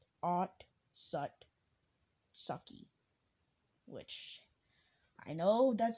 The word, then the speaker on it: Otsutsuki: name is mamashiki otsutsuki now listen if you pronounce it and look at the word right it's at it's not out suzuki because there's no you and it's not on sutsuki because i'll just because when you pronounce like if you pronounce it and look at the words right it's odd sucky which i know that